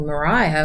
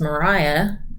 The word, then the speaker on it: Maria: When it comes to, for example, Mariah, we know that that's pronounced Mariah. Not how we'd say it now. We'd say Maria, but that sounds really different.